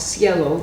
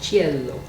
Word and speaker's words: cielo: sections of that oh there's another piece called Cielo which means heaven and sky in Spanish and in Italian it's called Cielo c-i-e-l-o spelled the same way and it's a